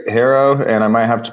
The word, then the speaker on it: HARO: I've always called this service HARO and other people called it HERO. So, I guess we'll just use the term interchangeably, but because of the way the founder, Peter Shankman, pronounces it, that's where you've decided to land. Is that right? That's right. HERO, and I might have